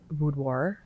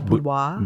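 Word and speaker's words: boudoir: The type of photography I did is called budoir. I think I'm pronouncing it wrong. I don't think it I think the French way is budwois. Budwoir. Um, but Wisconsin people call it budoir and that's the type of photography I did.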